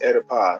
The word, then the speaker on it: Oedipus: Yeah, as in Oedipus, Oedipus, Oh, plural. so the O is silent then.